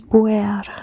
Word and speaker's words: Buer: It is, I almost say, it has 2 consonants and 2 vocals, And the pronunciation is Buer, Buer.